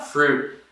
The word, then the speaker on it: fruit: Fruit. Suit. E esse U, I no final vira U, só U, né?